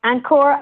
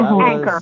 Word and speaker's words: Ankur: Everyone, let's please welcome Ankur Bhatt to the Heart of Influence. Welcome. I believe it's Anchor, right? Is it? It's pronounced Ankur.